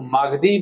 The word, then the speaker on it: मगधी: मगही में बोलते हैं लेकिन यह असली सही चीज है। यह सही उच्चारण है मगधी या तो जो मगध क्षेत्र में जो भाषा बोला जाता था उसे ही मगदी कहा जाता है।